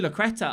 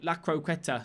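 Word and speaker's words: La Croqueta: I didn't do the Lacreta. I don't know why. Lacroqueta. Sorry, I keep saying the name wrong.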